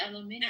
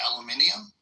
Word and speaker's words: aluminium: So they they they read aluminum and they pronounce it aluminium. Yeah, it's a whole extra syllable, isn't it?